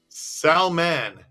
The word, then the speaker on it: Salman: chichil is very funny Salman is how it's pronounced Salman Eric Phillips I'm saying it wrong not salmon it's Salman okay maybe it's Salman it's